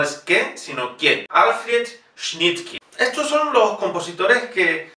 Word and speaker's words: Schnittke: Schnittke. Y la E, por supuesto, pronunciamos I. Schnittke. Kie. No es que, sino que. Alfred Schnittke.